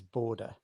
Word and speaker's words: Borde: The pronunciation is border, not board.